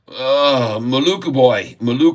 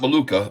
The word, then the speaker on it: Maluku: Maluku boy, not Maluka, Maluku. Oh, we got to make sure we say it right.